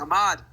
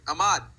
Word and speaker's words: Ahmad: Uh Ahmad, get it right, boy. Ahmad.